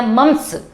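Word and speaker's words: mumps: गलसुआ, बेटा इसमें क्या होता है, इसको हम मम्पस बोलते हैं या मम्स जो भी है ये लोग इसको बोलते हैं। इसका वायरस है मम्पस वायरस। क्या है? मम्पस। कई जगह मम्स प्रोनाउंसिएशन करते हैं, कई मम्पस करते हैं, तो ये जो वायरस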